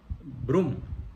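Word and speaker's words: Broom: No sé si se pronuncia Brom o Brum. Se escribe con doble O y supongo que se llama Eduardo o Eddie. Oblato de la Virgen María y ordenado sacerdote por San Juan Pablo II. Brum, dice mi esposa, Brum, muy bien.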